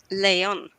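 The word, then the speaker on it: lejon: as well what do you guys call it Leon Leon yes and with a it's spelled l e j o n and then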